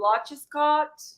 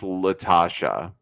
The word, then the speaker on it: Latasha: So Lodge Scott. It's pronounced Latasha. Because I saw that as Lodge there.